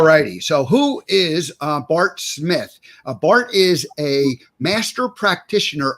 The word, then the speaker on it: Smyth: So who is Bart Smyth?